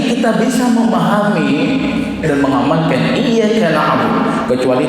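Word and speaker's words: إِيَّاكَ نَعْبُدُ: Jadi dengan tasydid iyyaka na'budu. Karena sering para imam-imam di kampung kita itu sering tidak membacanya tanpa tahiyat. Iyyaka na'budu. Jadi artinya berubah dan bahaya, Pak. Kami menyembah cahaya matahari.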